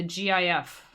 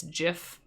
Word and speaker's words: GIF: guys call that the gif because i think didn't the creator actually say it's jif yeah if it's a hard or soft g i think it should be gif because it's graphic that's